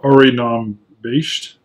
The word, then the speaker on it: Airigh Nam Beist: __ ] based based this the the phonetic pronunciation of re Nam based which in the Gaelic language literally means shelter